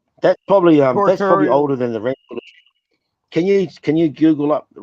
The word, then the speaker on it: Ranfurly: Ranfurly. RAN. RAN. Ranfurly. Like you ran and then Furley.